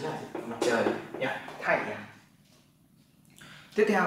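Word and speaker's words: 太阳: Cái này bạn đọc là thái, bởi vì nó là thái, thái dương. Chữ dương thì là cây liễu, bên cạnh là bộ nhật, nên bạn đọc là dương.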